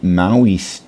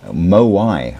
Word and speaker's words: Moai: Another very interesting one which you might be familiar with are the Maui uh Moai I should say.